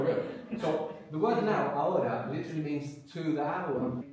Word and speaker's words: ahora: Now is ahora, the word for now. That's A-H-O-R-A. The H is silent.